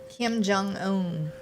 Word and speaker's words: Kim Jong-un: He says that really gets in, I'm going to pronounce his name wrong, into the area of Kim Jong, how do you say his name? Kim Jong-un.